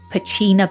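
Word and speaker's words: Pachena: I'm a Brit living on Vancouver Island and I go to Pacenna, pronounced Pacina Bay, every summer for a music festival.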